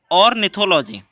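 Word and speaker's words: ornithology: क्या बोलेंगे, प्रोनाउंसिएशन समझ लीजिएगा, ऑर्निथोलॉजी।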